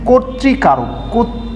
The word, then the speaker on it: কর্তৃকারক: যেমন আদ্য অ, কয়ের সাথে অ আছে এখানে এবং তয়ের সাথে রিকার আছে, যার ফলে আদ্য অটি ওকার হয়েছে কর্তৃকারক।